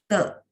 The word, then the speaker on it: 得: Khusus di sini karena dia dibaca te, dia adalah sebagai partikel yang menghubungkan kata sifat dengan kata kerja.